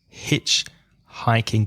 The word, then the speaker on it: hitchhiking: a hitchhiker the activity hitch-hiking be careful of that H sound it's not from the throat it's not here it's here so hitchhiking Rezo and I